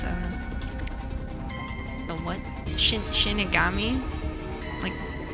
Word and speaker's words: Shinigami: Shinigami?